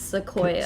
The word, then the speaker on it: Sequoia: It's sequoia. Sequoia. Okay, like the tree. Yes, but people always assume because it's a C that it always starts with a K, and I'm like, no, no.